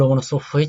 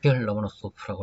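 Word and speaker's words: Ломоносов: 미하일 바셀리에비치 로모노소프라고 하는 사람이 있습니다. 이름에 오가 되게 많지요. 로모노소프에서 오가 4개나 있습니다. 우다레니라고 하는 액센트는 세 번째 오 여기 지킨답니다. 그래서는 실제 발음은 로마노소프라고서는 그렇게 될 거예요.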